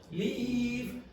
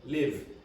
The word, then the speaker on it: leave: Spanish speakers also have, leave, live. Leave. Now you must be able to pronounce that if you were to be understood in English.